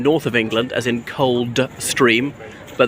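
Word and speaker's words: Coldstream: of england as in cold stream but they also pronounce without the d like cold stream and as often known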